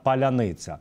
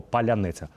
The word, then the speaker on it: паляниця: хто де є відповідно росіяни не можуть вимовляти слово паляниця прекрасні Мені здається назва для дрону ракети Ну і знаєте всі хто не будуть вимовляти слово паляниця ракета Дрон буде летіти